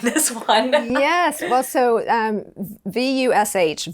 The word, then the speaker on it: Vush: Well, so VUSH, Vush, rhymes with Bush, is an incredible company.